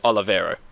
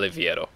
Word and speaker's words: Oliveira: joke like Glenn Ida how to pronounce it now go on Oliveira not Oliviero I Glenn Oliveira Jordan